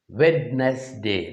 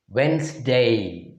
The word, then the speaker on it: Wednesday: this word as wednesday wednesday that is wrong the actual pronunciation for this word is wednesday as if the spelling is w e n z d a y wednesday here also you